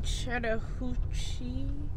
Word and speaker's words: Chattahoochee: ready to head to chattahoochee oh i said it right this time chattahoochee food works my